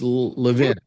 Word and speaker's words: Levin: Do I pronounce it wrong? Don't I? It's Levin. You pronounce it New York. It's Philly, it's Levin. Oh, I see. In Philly, it's Levin. Yeah, Okay. but New York pronunciation is fine.